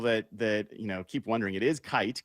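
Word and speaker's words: Kight: Who is Amari Kite? Amari Kite? Yeah. First of all, for people that keep wondering, it is Kite, K-I-G-H-T. There's no N that's missing.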